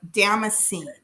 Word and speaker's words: Damascene: They are Damascene, and they are from Spain, and it is pronounced Dama, Dama, and then scene.